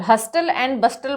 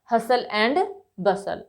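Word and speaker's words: hustle and bustle: करेंगे हसल एंड बसल हस्टल एंड बस्टल मत इसको पढ़िए हसल एंड बसल okay next one इज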